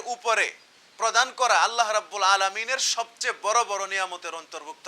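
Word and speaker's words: عالَم: বানানটা লক্ষ্য করো, এটা হবে আলামি, আলামুন। যদি এটাকে তুমি লামের নিচে জেড দিয়া যদি পড়ো আলিমুন, তখন কিন্তু অর্থ পরিবর্তন হয়ে যাবে।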